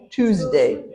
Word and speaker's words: Tuesday: twos Tuesday Tuesday two's you have to emphasize the S two's Tuesday so you don't want